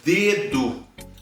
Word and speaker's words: dedo: DE no início de uma palavra vai ser lido D. Então, por exemplo, isso aqui é um dedo. Dedo. Eu tenho, né, a pronúncia dura da letra D, tanto no início quanto no final.